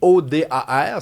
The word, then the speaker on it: Jodar: C'est J O D A R, c'est un espagnol mais prononcé O Dar.